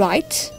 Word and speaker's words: write: Write.